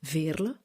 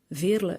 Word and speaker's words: Veerle: It's more easy to say than Veerle, which is the pronunciation in Flemish. Veerle is also a Flemish name, so but for